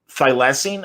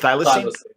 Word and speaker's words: thylacine: you got to see that now is it phylacin how do you say it thylacine like it almost sounds like it's a prescription